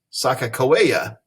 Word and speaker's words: Sakakawea: In the Hidatsa Sioux language, her name is Sakakawea.